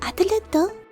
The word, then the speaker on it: Adlet: I mostly watch the subs, and it's very Adletto. It's very heavy on that last t.